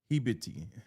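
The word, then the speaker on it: habibti: It's a hibiti is a popular Arabic term of endearment pronounced hibiti that translates my love, my dear, or my darling.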